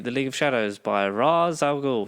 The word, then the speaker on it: Ra's al Ghul: It's definitely Henry Deckard, and he takes him to the League of Shadows by Ra's al Ghul, not Raish.